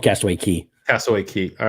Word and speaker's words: Cay: ahead Steve go ahead sorrows yeah kay is pronounced key believe it or not so Castro it's called castaway key SOA key all right I'm pretty good at